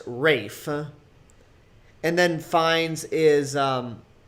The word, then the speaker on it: Ralph: uh it's it's his his first name is spelled ralph huh but it's pronounced rafe and then finds is